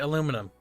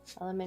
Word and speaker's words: aluminium: Aluminum. Aluminium.